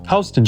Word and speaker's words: Houston: Soho is short for south of Hston Street. Yes, that's how it's pronounced, not like Houston, Texas.